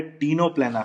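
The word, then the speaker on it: Ctenoplana: इसके अलावा एक और जो एग्जाम्पल दिया है टीनोप्लेना, सी साइलेंट रहेगा, टीनोप्लेना।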